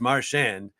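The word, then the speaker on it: Marchand: I'm working for TNT marand marshand he goes oh I've been asked that a thousand times it's marshand and he said it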